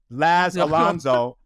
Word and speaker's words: Laz Alonso: It's funny because like the teacher will be trying to pronounce my name and the students will correct them like Laz Alonso.